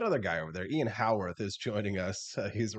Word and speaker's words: Haworth: You can follow him online on Twitter at Howarth, which is Haworth. Looks like Hayworth, pronounced Howarth, like how on earth, but without the on.